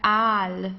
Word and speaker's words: Aal: So here it's der Aal, okay, so it's not al, it's der Aal, long A, Aal.